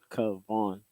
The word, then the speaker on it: Kavon: And then nobody was able to pronounce Kavon, which is my name. And I'm like, it's Kavon.